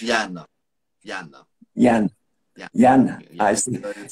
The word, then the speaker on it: Yann: As you know, your name is Yann Samuell, and it is pronounced like Yan in Yes, it is French. Yana.